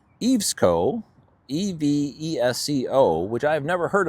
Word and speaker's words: EVESCO: Next, a company pronounced Evesco, E-V-E-S-C-O, which I've never heard of before, posted into the social, and I picked it up.